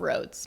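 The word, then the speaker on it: Rhode: And but she's and she's the founder of Roads Makeup. Yes, that's how you say it. I thought it was Roadie this whole time.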